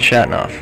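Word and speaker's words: Chateauneuf: My name is Shatnoff. Spell that last, Shatnoff?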